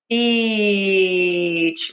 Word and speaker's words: beach: To say this long tense e beach. Really smile. You love the beach. Make that word really long because it's so great to be there. The beach. If you don't say it long enough, it sounds like And